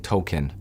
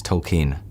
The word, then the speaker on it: Tolkien: I was saying Tolkien, but it's not pronounced like that. It's Tolkien.